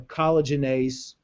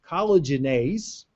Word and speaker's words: collagenase: Those all have anti-collagenase or collagenase, however you want to pronounce it, activity. Collagenase is an enzyme that actually breaks down collagen.